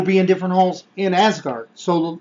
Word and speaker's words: Asgard: s card yeah well as guard I just I prefer to pronounce it that way with a little bit accent but and Asgard is a huge place